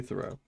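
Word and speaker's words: Theroux: you spell that again Louis the row he's no not throw there it is Louis Thoreau um this guy uh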